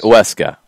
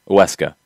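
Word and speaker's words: Huesca: pronunciation down here um a little more like uesca it it's like oh weska there's no w in it that was i think where it was getting off the rails john okay so uh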